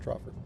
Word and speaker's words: troffer: Portmanteau of trough and coffer. That makes sense then, that they're pronounced troffer.